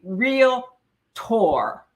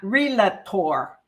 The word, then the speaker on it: Realtor: order to become a real tour so get it correct we are real tours to syllables not relator okay we are realtors